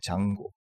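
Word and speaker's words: Django: 장고. D는 발음이 나지 않죠.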